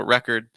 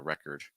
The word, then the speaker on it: record: stress the first syllable record and then with record the verb you stress the second syllable so record record that's just another